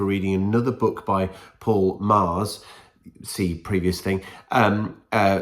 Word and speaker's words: Magrs: Right, so in a confusing piece of admin, I started reading this book before Paul Mars, who another Paul kindly has told me how to pronounce Paul Mars's name in the comments, got